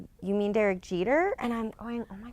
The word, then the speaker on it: Jeter: eer yesterday and he's like you mean Derek Jeter and I'm going oh my God how could